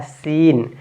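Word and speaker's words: scene: यह क्या है देखिए एस सी के बाद आई है इसका मतलब है सी साइलेंट हो जाएगा तो पढ़ेंगे साइंटिफिक क्या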